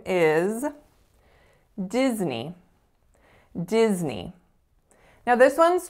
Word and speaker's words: Disney: attention to each word so in this particular word Disney we're actually making a voiced sound even though it looks misleadingly like an S like us sound so we have diz as our first syllable and the second syllable is inherently a little bit tricky as well so it kind of looks like it should be pronounced nay but we don't say